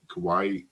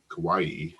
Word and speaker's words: Kauai: she followed 700 children on the island of Kauai Kauai um okay in case you're like me and can't spell it I'll spell free k-a-u-a-i the island of